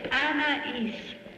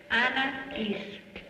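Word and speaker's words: Anaïs: It's Anais. Anais. Anais. It's like Anna with is added to it. So this is to the future Anais.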